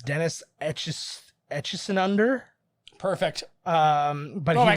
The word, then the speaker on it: Dennis Etchison: And a science fiction writer, I'm gonna get this name wrong. It's Dennis Etchison under.